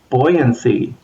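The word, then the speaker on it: buoyancy: you brought it up here's your refresher course on the pronunciation of the word beld b uo y okay how do you describe something that float buoyant what is the property of being buoyant boyancy what do you call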